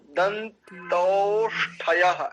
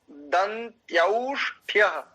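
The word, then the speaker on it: दन्त्यौष्ठ्य: वकारो दंत्यौष्ठ्य, दंतौष्ठ्य ऐसा नहीं करेंगे, दंत्यौष्ठ्य, ये इसका शुद्ध उच्चारण है।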